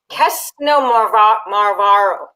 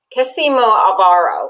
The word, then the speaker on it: Xinomavro: So okay, so Xinomavro. I can't say this. Xynomavro is really how you pronounce it.